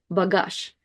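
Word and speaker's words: багаж: And maybe you already know that the last letter of this word is Z, that makes the sound Z, Z. But you probably don't hear it that much when I'm pronouncing it here. Bagage, bagage. The letter Z is one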